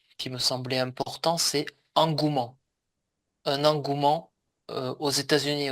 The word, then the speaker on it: engouement: Engouement, on ne prononce pas le e du milieu.